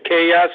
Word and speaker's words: Kaya: It's how do you pronounce the last name? It's Kaya, C-A-Y-A.